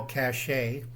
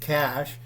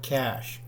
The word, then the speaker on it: cache: cachet okay it's pronounced cash it's come from everybody in America says cachet that's wrong it's a cash building a survival cash all right big problem